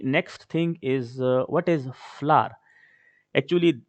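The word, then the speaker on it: FLWOR: We will pronounce this word as flour.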